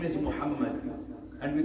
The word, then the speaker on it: Muhammad: sallallahu alayhi wa sallam and to call it Mo, astaghfirullah. At least in my opinion, that's absolutely unacceptable. Anybody's name is Muhammad, astaghfirullah, many even our youngsters, Muhammad.